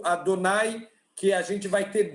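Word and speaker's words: Adonai: shame you came back o nome de Deus que a gente pronuncia como adonay que a gente vai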